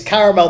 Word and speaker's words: caramel: Like Americans, like you can say caramel, that's absolutely fine. But for the purposes of this song, there's an extra A. It's clear there is an extra A. Yeah. It's been pronounced. He's made it clear. It is caramel. That is what you will